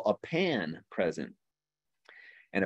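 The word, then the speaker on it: panne: what we call a pan present and a pan is spelled p-a-n-n-e and the pan is basically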